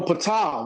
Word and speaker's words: Ptah: Okay, you say Ptolemy, but we know Ptah. We pronounce it Ptah, right?